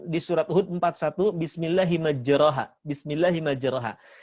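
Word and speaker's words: مجراها: surat hud 41 bismilahi majreha bismilahi majreha kita tahu di situ bukan roh tapi dimiringkan ke khas telah jadi Bismillah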